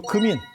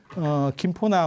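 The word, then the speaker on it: 金: 금씨가 아니고 그러니까 원래 우리 발음은 금이에요.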